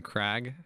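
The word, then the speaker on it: Kragg: Emphasis on the R. It's spelled with like 6 or 7 R's.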